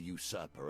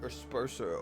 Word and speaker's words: usurper: You see how quickly the actions of the usurper are turned into tales for children. I didn't know that was how you pronounce that word, usurper. I thought it was like asperser or something like that, usurper.